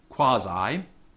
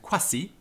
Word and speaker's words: quasi: length is used so you will say quasi in the english pronunciation of latin and quasi in the restored classical so quasi versus quasi so the parts of